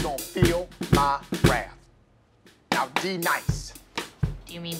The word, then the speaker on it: D-Nice: Now, D-Nice. Do you mean Denise? Son of a bitch! You say your name right, right now. Denise? Say it right. Denise. Correctly. Denise. White. Denise. White. D-Nice.